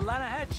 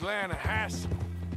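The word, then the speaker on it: Lannahechee: no no no no no no the the lah hatche it runs right near here yeah but it's pronounced lanahassee why is everything in English said differently than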